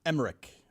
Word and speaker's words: Emmerich: Just like Emmerich is a hard CH.